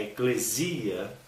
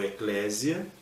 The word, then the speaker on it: eclésia: Então a eclesia, ou eclésia, né, pode ter essas duas pronúncias, o grego, eclésia ou eclesia, ela é o quê?